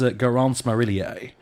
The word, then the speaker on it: Garance Marillier: Her name is Garance Marillier. And good pronunciation.